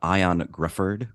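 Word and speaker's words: Ioan Gruffudd: of my big takeaway I think you say his name ion Grifford Grifford yeah sounds very British yeah ion Grifford uh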